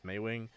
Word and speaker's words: Maewing: gonna fly back and sorry if i keep switching between maywing and mauling i know it's meiwing um i just originally heard it as smallwing and it's really hard to break that uh pronunciation out of my head so yeah i'll try